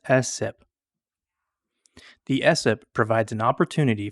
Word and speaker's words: SSIP: State systemic Improvement plan most people pronounce ssip as sip the essip provides an